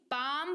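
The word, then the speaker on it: palm: बछड़ा का एल एम इसको पालम नहीं पैम पढ़ेंगे यानी की हथेली क्यों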